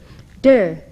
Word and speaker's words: Te: spelled t a o der meaning virtue or power spelled t e jing spelled c h